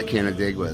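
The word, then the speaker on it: Canandaigua: Yeah, Did I say it right, Canadaigua? Yeah, Canadaigua, that's right.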